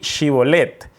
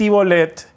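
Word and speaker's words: Shibboleth: decían a los de frames muy bien de chivo led y entonces el de frames y decías y volet porque ellos no podían pronunciar correctamente y volet central los de gala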